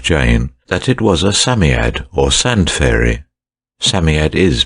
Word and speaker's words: Psammead: robert anthea and jane that it was a samiad or sand fairy samyad is pronounced sammiet it was old old old and his birthday